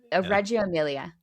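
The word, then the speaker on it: Reggio Emilia: book, but the the and I should pronounce it correctly because I'm Italian, but I I don't speak Italian Reio Emmelier. Reio Amelia.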